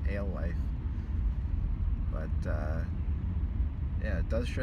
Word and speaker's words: Alewife: See, it doesn't pronounce the road correctly. Alewith, it's Alewife.